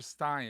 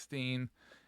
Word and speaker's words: Stein: And it's never Stein. It's Steen. And then it's like, oh, people.